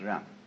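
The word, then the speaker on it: 仁: fundamental virtue of a human being is called Yan spelled Jen for reasons best known to Chinese Scholars uh I don't know what they are but it's pronounced R and it's a character Chinese character that confucious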